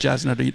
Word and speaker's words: Jasna: Pronounced Jasna. J is pronounced Y. I'm Serbian. She's Serbian, yeah.